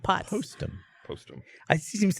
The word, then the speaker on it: Postum: a whole conversation based around the spreading of lies, and you pronounced it wrong, and now we all think it's called Potsum.